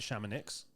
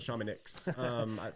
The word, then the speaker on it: Chamonix: So Dennis pronounces it Chamonix. But yeah, I met some people in Paris that called it Chamonix. French people. But yeah, so kind of an impulsive trip.